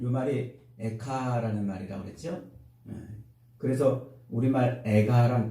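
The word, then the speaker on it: איכה: 이 슬프다라는 말, 이 말이 에카라는 말이라고 그랬죠. 그래서 우리말 에가랑 비슷해요.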